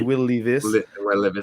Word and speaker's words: Will Levis: Oui, j'ai suivi, mais c'est Will Levis. Il y a un S à la fin, parce que, regarde, voilà.